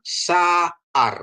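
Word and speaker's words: שָׂעָר: Terus ini ya, ada sin, ada ain, ada res. Kalau ini mah sudah tahu kita ini. Sin, ini ada a ya. Ini ain. Ain ini tambah a. Jadi bacanya saar gitu ya.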